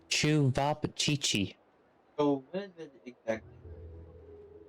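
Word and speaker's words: Ćevapčići: Sevapcici. Chevi? So, Like, I'm thinking it's like ceviche and you don't pronounce the P. Oh, it's Chuvapchichi.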